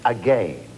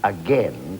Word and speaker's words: again: One technical fact, if you're going to sing vain, then it must rhyme with again. We don't sing again to rhyme with vain, unless, of course, we sing then.